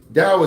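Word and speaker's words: Tao: Dao is spelled T AO.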